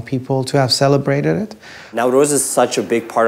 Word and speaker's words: Nowruz: the first known people to have celebrated it now Rose is such a big part of Afghan culture